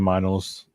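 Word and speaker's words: Meinl: symbol wise what do you use I'm using minals that's how you pronounce it the m n l yeah vyl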